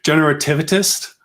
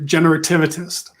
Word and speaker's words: generativist: So, my title, if you go to my LinkedIn, says passionate generativist. And that's how you pronounce it, Patrick, generativist. Generativist.